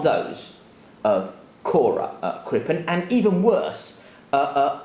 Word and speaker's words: Cora: itu v news that um i got the name wrong last time i did an update so it's cora crippen he was convicted in 1910 and he